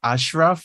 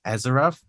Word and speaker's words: Asyraf: So it's kind of pronounced Ashraf. It's like there's an H in there, which is super weird because the spelling is Y. So people usually say like Azaraf.